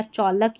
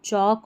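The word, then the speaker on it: chalk: जैसे इसको वालक टॉलक या चौलक या स्टॉलक नहीं बोलते। वॉक, टॉक, चौक और स्टॉक।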